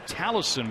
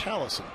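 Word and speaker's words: Tolleson: And now Sean Tallison, we're told the pronunciation is, although it's spelled with an O. Yeah, he's on the pitch. Tallison.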